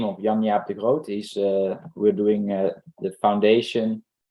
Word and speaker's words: Jan-Jaap de Groot: And if we have the person's name, Jan-Jaap de Groot, JANJAAPDEGROOT.